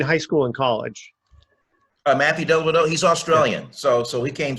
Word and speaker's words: Dellavedova: Where did Matthew Dellavedova? I think that's how you pronounce his name.